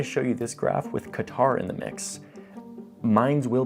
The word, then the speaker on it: Qatar: of our puzzle, Qatar, a country that should be pronounced Qatar, but I'm not gonna be that pretentious guy who shows up trying to like say it in the local pronunciation because it makes me sound cultured and cool. I am that guy, I'm trying to not be that guy. So for now, I'm just gonna say it like a Texas oilman says it, Qatar, okay?